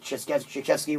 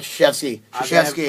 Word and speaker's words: Krzyzewski: assistant coach doing the head coaching because what Krzyzewski was Did you back just in mispronounce Krzyzewski's Oh name? man, I did. DK. Mike Krzyzewski.